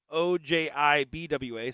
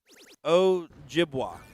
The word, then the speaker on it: Ojibwa: That's OJIBWA, so Ojibwa is how I would pronounce that.